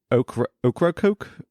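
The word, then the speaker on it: Ocracoke: going to mispronounce already o c r a c o k e is like o okra Coke island is a small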